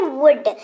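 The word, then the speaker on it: would: की जो की है वुड व ओ यू एल दी L silent उच्चारण शब्द का पस्त है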